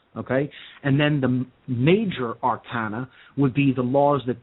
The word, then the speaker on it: Arcana: schools they would call these two general bodies Arcana AR CA na sometimes pronounced Arcana uh the two Arcana are again